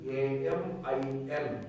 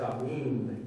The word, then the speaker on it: Amin: across the globe, so there is a word called Amin, A-M-I-N, that is how they print it. The pronunciation is probably Amin, that is how they pronounce Amin.